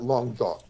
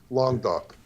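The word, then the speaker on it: Languedoc: it longer though but long duck l-a-n-g-u-e-d-o-c that means tongue of the Ark and it sounds almost Vietnamese like long talk it sounds Vietnamese almost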